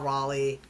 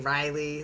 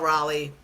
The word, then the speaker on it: Raleigh: Um, so my boy Big Dumper Cal Cal Raleigh. Um, I know I've been saying Riley like half the time. Chat, I'm aware I've been saying it wrong.